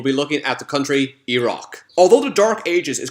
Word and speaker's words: Iraq: As you may have noticed, I'm saying Iraq, not Iraq. Iraq is the correct way to pronounce it.